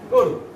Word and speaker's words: গরু: আমি লিখব গয় ওকার রয় রসুকার, গরু। এখন প্রশ্ন থাকতে পারে, স্যার গ এখানে ছিল ওকার ছাড়া, আপনি এখানে ওকার দিলেন কেন?